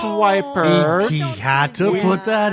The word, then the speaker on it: Weippert: Weippert, who she doesn't like to be called Weippert, so don't call her Weippert. It's Weippert.